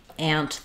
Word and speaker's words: aunt: different pronunciations for this many places in the US including the West Coast where I live now and the Midwest where I'm from we say ant the same way we use the a vowel um some places East